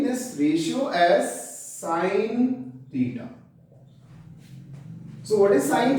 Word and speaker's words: sine: The full form of sine is sine. These are abbreviated forms. Please don't pronounce this as sin theta. It is sine theta.